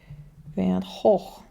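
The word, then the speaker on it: Van Gogh: And then here we have the Rembrandt House, and then also we're seeing Van Hoog is how you say it here.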